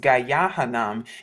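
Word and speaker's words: גיא הנם: but as you see it's pronounced gayahan in the the ancient Hebrew restored tong This was known as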